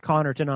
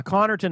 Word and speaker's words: Connarton: and eer T N because that's what it sounds like conon and uh but but